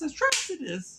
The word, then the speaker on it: Atrocitus: When they say his name, it's Atrocitus.